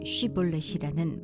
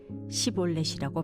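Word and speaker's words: 쉽볼렛: 그가 에브라힘 사람이 아니라고 하면 그에게 쉬볼렛이라는 말을 발음하게 하였다. 그러나 그가 그 말을 제대로 발음하지 못하고 시올렛이라고 발음하면 길라 사람들이 그를 붙들어 요단강 나루터에서 죽였다.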